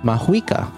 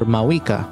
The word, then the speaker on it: Mavuika: The pronunciation of her name is Mauika or Mauika, much like the Maori fire deity that we've theorized before.